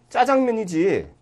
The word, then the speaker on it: 짜장면: 그런데 이 왜 자장면이냐? 왜 발음이 좀 이상하지 않느냐? 자장가도 아니고 짜장면이지. 이렇게 이제 즐겨 썼단 말이에요. 그러니까 전체가 이제 다 바뀌었습니다. 그래, 별 수 없구만. 짜장면, 짜장도 인정을 해주자.